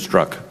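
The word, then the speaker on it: Strzok: And you also indicated that, and is his name Mr. Struck? I wanted to get the pronunciation right. I've heard it about 5 different ways today. Struck, is that? Struck.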